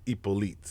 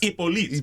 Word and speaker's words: Hyppolite: In French and being Haitian, it's Hyppolite. Hyppolite.